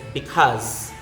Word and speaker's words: because: Next is because. Because. Then z. Z. Cause. Cause. K. The O with the diaresis. Then z. Because. Because. Next. By the way, not because.